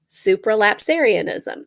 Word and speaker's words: supralapsarianism: spells kind of like, it is spelled kind of like it's pronounced. Supra, S-U-P-R-A, lap, L-A-P, Sarian, S-A-R-I-A-N, ism, I-S-M, supralapsarianism. So there's also an infralapsarianism, which is the same as supralapsarianism in spelling, but it starts with I-N-F-R-A.